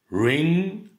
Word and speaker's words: ring: Ring, rung, run. On ne prononce pas le G.